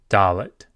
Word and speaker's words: Dalet: Dalet is the D sound. D, as in dog. Dalet.